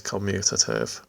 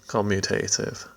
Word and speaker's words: commutative: An additional point about addition is that adding is commutative, or commutative. Different people pronounce it in different ways.